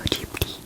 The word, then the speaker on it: Ghibli: I am such a Studio Ghibli or Ghibli fan. You could say it like Miyazaki does. You could say it like an Italian person would. Being that Miyazaki is a huge fan of Italy and the culture, you can see a